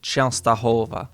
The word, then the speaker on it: Częstochowa: Okay, so it's got the E with the little tail, so Częstochowa. Częstochowa. How does this get pronounced?